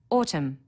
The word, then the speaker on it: autumn: needs a capital letter Autumn a silent n on the end through one of the